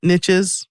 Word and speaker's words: niche: It's a really great product and newsletter, but he says look at other adjacent niches. You say niche, I say niche. I think I say it wrong.